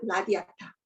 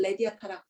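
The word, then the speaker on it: radiata: 그 중에 한 가지가 유칼립투스 라디아타, 또 다르게 읽으면 레디아타라고 읽고요.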